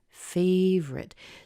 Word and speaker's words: favorite: something not your favorite you don't hear the oh in their favorite so you could say